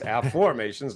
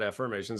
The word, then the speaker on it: Afformations: And no, I'm not saying it wrong. It's Afformations, not Affirmations. That's my book from Hay House called The Book of Afformations.